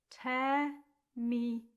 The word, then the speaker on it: terminum: And then another three-syllable word, terminum. It looks like ter, but we say tear, nice and open, like the same vowels that we use in Italian.